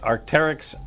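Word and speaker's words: Arc'teryx: I didn't know if but I have been pronouncing Squamish correctly the whole time. Yes. The Arcteryx Squamish hoodie, women's size small, and we've got 3 qualifiers so far: Michael, Mary, and Pam.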